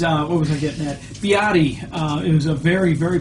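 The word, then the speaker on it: 比亚迪: Biati. It was a very, very popular brand, known more in the Western world as BYD, which is actually pronounced Biati.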